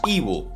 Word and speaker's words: Eve: escuchar y analizar a Ibu, que me dijeron que se pronuncia así, a este cantante, compositor,